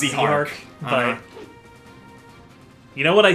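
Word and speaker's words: Zihark: Canonically, it's pronounced Zyhark, but...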